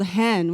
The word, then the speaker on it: hen: a national gender-neutral pronoun it's spelled hen which like chickens over here I love the idea